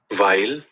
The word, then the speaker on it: weil: কেমনে করে দেখেন তো ডাব্লিউ সবসময় যার মানে হচ্ছে ভি এর মত উচ্চারণ হয় ইংরেজির ভি এর মত ভাইল ভাই কি শুনলাম আমরা